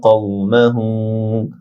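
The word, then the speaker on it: قومه: এক আলিফ লম্বা হবে, কওমাহু কও কাউ না হয়ে কও বড় কাফ মোটা হবে, মাহু হু উল্টা পেশ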